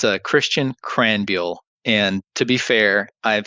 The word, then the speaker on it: Krahenbuhl: Krahenbuhl. And I'm going to have you say that for me one more time. Sure. It's a Christian Krahenbuhl. And to be fair, I've had that name pronounced once correctly my entire life.